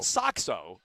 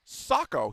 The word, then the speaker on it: Socko: Not Soxo. No, Socko.